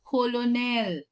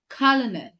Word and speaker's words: colonel: Next word is not colonel. It's not colonel. The correct way to say it is colonel.